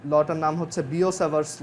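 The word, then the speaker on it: Biot–Savart: সো এটা হচ্ছে এরকম যে ধরো, মানে এটা একটা ল আর কি, লটার নাম হচ্ছে বিও-স্যাভার্টস ল। এটা কিন্তু বায়োট-স্যাভার্ট না, অনেকে বইতে বাংলা বইতে দেখবা বায়োট-স্যাভার্ট লেখা, বাট এটার উচ্চারণ হচ্ছে বিও-স্যাভার্টস ল।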